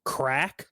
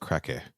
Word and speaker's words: Krake: Because apparently the actual correct pronunciation is crack, but I think that sounds really stupid, so I'm not going to call him Crack. We can go through this. It's Krake, and I did look it up how to pronounce, and in Afrikaans it is pronounced Krake, which is what I'm going with.